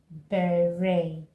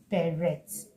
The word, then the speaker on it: beret: Another word that I found very very interesting and I hear people mispronounce is beret. Ber. They usually say berets. Berets. Okay. The t is silent here. So you say bay.